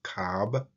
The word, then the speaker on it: kab: It is transliterated as KB, and we place the A to pronounce it, so it is pronounced KAB.